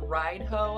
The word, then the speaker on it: Raidho: going to be covering raido now some people pronounce it ride ho and i think it's actually more technically like redo something like that so